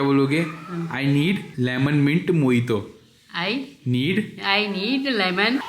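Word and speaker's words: mojito: नहीं पढ़ते ना इसको जो जे होता है वो साइलेंट होता है क्या बोलोगे मोहित हे वन मोइतो फॉर मी बोलो हे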